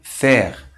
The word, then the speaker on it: faire: O nosso segundo grupo de vogais compostas, AI, EI, pronuncia-se como E, ou seja, um E bem aberto.